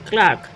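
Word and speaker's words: clerk: তারপর এবার অকুপেশন চলে এসো, সেটা হচ্ছে ক্লার্ক, কেরানি। এই ক্লার্ক উচ্চারণটা কি ঠিক করলাম? না, ভুল করলাম, এটা হবে কি ক্লার্ক, এই আর উচ্চারণটা কিন্তু হবে না, ক্লার্ক।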